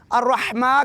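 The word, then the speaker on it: الرحيم: दो हरका के बराबर अ रहीम रही य मदी है इसकी दो हरका के बराबर लंबा करेंगे तो यूं पढ़ेंगे बिस्मिल्ला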